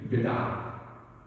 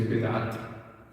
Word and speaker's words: bid'ah: And we do say bid'at, Arabic bid'ah. We pronounce the ta marbuta at the end in many words in Urdu, and in Arabic they don't. Urdu, Farsi, Turkish, we pronounce the ta at the end often.